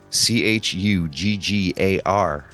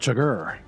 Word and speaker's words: Chuggar: STONE CHUGGAR. Stoned Chugger. Oh, Chuggar, not Chugger.